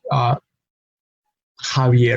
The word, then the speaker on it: Javier: Mexico, Javier, Jimena. No, and those Javier and Jimena are two names, proper names, sometimes spelled with a J, sometimes spelled with an X, but the pronunciation is Javier.